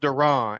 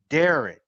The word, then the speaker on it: Duran: But it's pronounced Duran. And then Duran. my mom, when I was in trouble, she would always say Darren.